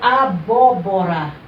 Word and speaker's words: abóbora: Já na palavra abóbora, eu já tenho uma diferença aqui nessa sílaba, porque ela recebeu um acento agudo.